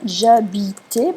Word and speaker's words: j'habitais: J'habitais, parce qu'on ne prononce pas le H en français, quand j'habitais.